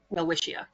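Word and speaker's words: Welwitschia: general right so well whia uh is spelled w l w t s c h i a well wisha um and this like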